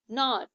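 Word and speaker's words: gnaw: की second form लगेगी नॉ जी यहां पर साइलेंट है द माउस नॉर ऑब्जेक्ट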